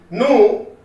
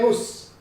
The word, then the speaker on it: nous: When you are reading this separately, nu will be pronounced as nu only. You don't say nus.